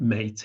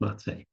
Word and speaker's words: Maté: is pron is spelled m a t like mate in English but pronounced mate so mate went be Beyond traditional treatments and